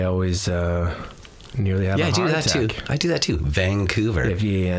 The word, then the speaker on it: Vancouver: I do that to Vancouver yeah where's the G there's no G that's how you know if somebody's from Vancouver is that's how they say it and I was I